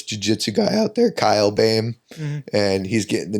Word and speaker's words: Boehm: And Boehm is spelled Boehm. Yep. Somehow OE makes A.